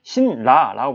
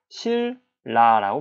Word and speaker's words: 신라: 얘를 우리는 발음할 때 신라라고 발음하지 않죠. 뭐라고 발음합니까? 실라라고 발음하죠.